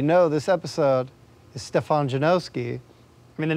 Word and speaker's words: Janoski: Stefan Janoski. And what pronunciations do you usually hear? Oh, Stefan. What do you say for the last name? Janikowski? Janowski. Yeah, there's no W yet, Janoski.